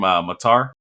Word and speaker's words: Mukhtar: Mukhtar. Hani Mukhtar.